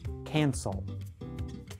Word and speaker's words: cancel: One useful verb to know is cancel. Let's work together to improve our pronunciation of the word. Cancel involves two vowel sounds.